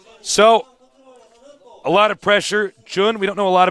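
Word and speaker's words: JJun: Our next matchup will be Moonglade against it's double J-U-N, so I believe it'll be Jun. That's how you pronounce the double J sound in Korean.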